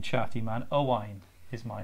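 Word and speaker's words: Owain: too can I ask your name chatty man Oh wine is my name this is Allison yeah oh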